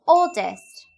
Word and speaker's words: oldest: To mention those born first, add oldest. When saying quickly, we will usually not pronounce T.